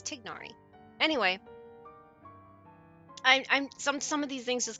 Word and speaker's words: Tignari: Not Tinari. It's Tignari.